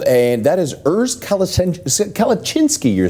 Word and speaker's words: Kalecinsky: uh he said tarek my name is kalachinsky it is Polish name I am German but my uh my Heritage is Polish hence now I call them Earth kalachinski well uh saying it correctly uh means a lot